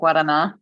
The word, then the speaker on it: Guaraná: Oh, like Guaraná? It's like Is a that how it's Brazilian. pronounced? Yeah, thank you. Guaraná. Hello? Cultured? Yes, I see. I've been saying it wrong this whole time. I think hey, is it wrong or is it just different?